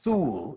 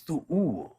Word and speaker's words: Thu'ul: So when you see two U's together, for example, like in Thu'ul, it is not Thu'ul, it is Thu'ul, is how it is pronounced, right? So you give a little pause there. So in this case, it